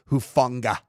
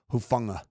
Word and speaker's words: Hufanga: And then you know what I really like is in in Tonga you pronounce everything kind of with this like soft G. It's not Huanga, it's Huanga.